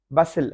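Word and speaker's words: bustle: हसिल, हसिल बसिल जैसे होता है, गहमा गहमी होती है, हसिल बसिल। हसिल, टी साइलेंट है। बसिल, टी साइलेंट है।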